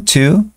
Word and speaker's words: two: tenemos los típicos One Two el two es una t un poquito escupida no es un t Porque si fuera t la la fonética no corresponde No no es el mismo sonido entonces two two después